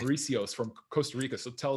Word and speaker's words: Mauricio: online summit coaching so mariko is am i saying it right is it rico it's like an s sound at the answer is mauricio mauricio excellent mauricio mariso thanks